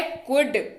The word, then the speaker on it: could: अगला शब्द है कुड। कुड की सबसे पहली चीज बताऊं, उच्चारण COULD, लेकिन उच्चारण कुड। एल रहेगा साइलेंट।